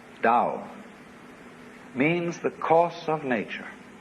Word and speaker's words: Tao: is called a dull t-a-o pronounced Dao in the Mandarin dialect Cantonese dialect take your choice Dao means the course of